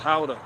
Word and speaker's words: Gouda: Dutch are responsible for Gouda cheese or pronounced in that out there is halda yeah shout out to the Dutch did y'all see a new music video by anomaly now we talking no I haven't seen it pronounce how to Yes uh gouda cheese is pronounced how to powder cheese powder powder you've